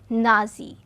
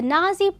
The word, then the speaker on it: Nazi: this became known as nazi the being the first part of the german way of pronouncing the word national he established a paramilitary